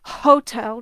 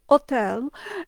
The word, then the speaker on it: hotel: Now, in Italian, the consonant H is silent. They don't say hotel, they say hotel.